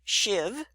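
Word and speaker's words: sheave: I said shiv shiv it's spelled this way s h e a v and it's pronounced shiv and that is the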